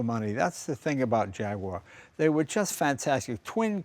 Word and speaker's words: Jaguar: The Jaguar, as when pronounced correctly, fascinating car.